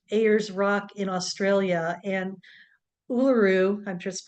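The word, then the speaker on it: Uluru: called Ura aers A's Rock in Australia and uaru I just pronounced it correctly is a massive Sandstone Rock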